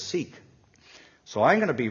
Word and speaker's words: Sikh: be really sensitive because I looked in my Wikipedia about how he is pronounced the word sik 86 right sexy and it said sick so I thought okay I'm going to because everybody says seek so I'm going to